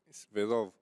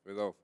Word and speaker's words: Svedov: Svedov, a ver, es solo con S, es Bedov. claro, Svedov. Ujú. Eso es la pronunciación en español, porque después en ruso se pronuncia Shvedov.